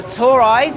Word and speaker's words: Toraiz: us what is this and how do you pronounce it cuz I don't want to get it wrong it's the toiz S sp16 so the reason we' made this